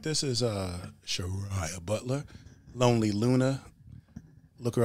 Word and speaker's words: Shu Rya: Yes, it's Shu Rya.